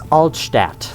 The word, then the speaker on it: Altstadt: So it's Altstadt. That's good to know. I was close. Just didn't know the precise pronunciation.